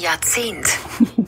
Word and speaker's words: Jahrzehnt: Jahrzehnt. Jahrzehnt. Yeah, that sounds so much better. Yep. J-A-R. Jahrzehnt. J-A-R-Z-E-H-N-T. Which is pronounced Jahrzehnt.